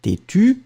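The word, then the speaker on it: têtue: Têtu, and then feminine. Têtu with the E, but then you don't pronounce it.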